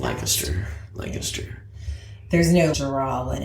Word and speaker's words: Lancaster: But Lancaster is how you're supposed to say it really fast. Lancaster.